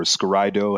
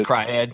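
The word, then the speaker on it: s-CRY-ed: One of my favorites was S-Cryed or Scaraido, however you choose to pronounce it. It's S-Cryed.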